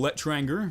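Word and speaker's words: L'Etranger: a game changer and for spy the old let tranger that's how you say it does give cloak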